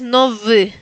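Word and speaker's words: nowy: En el segundo ejemplo es también como V corta, se pronuncia es nov. Nov. La Y se pronuncia parecida a una E, pero no es una E.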